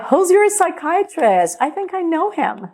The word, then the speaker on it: psychiatrist: Não é psychiatrist. We're gonna say psychiatrist. Esse P no início da palavra a gente não pronuncia, tá? Então, psychiatrist.